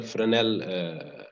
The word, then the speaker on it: Fresnel: it's written fresnel here but usually it is pronounced linear fresnel reflector and also we have the parabolic trough